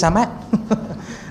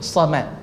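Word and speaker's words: صمد: Baca samad bacanya kan. Jadi somad. Allahu as-Samad.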